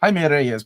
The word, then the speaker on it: Jaime Reyes: Jaime Reyes, muy bien.